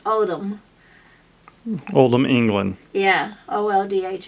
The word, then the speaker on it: Oldham: el d h am and you pronounce it odom Oldham England yeah Oh